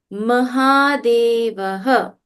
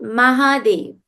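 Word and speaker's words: महादेव: Mahadevaha. Not Mahadev. Mahadeva.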